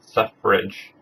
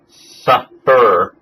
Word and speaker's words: suffrage: Suffrage. S-U-F-F-R-A-G-E, maybe? That's how you spell it? Suffrage. It is not suffer, which is a common mistake.